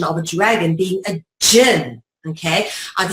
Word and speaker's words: jinn: Our favorite root word for the Arabic classification of a dragon being a jinn, okay? Either spelled with a D-J-G-N or the D-J-I-N-N, J-I-N-N, jinn as in gin and tonic, gon as in dragon, gen as in genetics, or gene or genesis or genius.